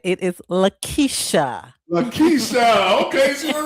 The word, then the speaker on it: Laquitcha: It is Laquitcha.